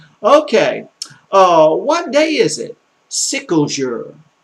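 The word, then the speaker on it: quel jour: Sickle jour. No, not you. You're not telling people you're sick. But what day is it? Sicklejour. Sicklejour. You know, like a sickle that you sickle grass with?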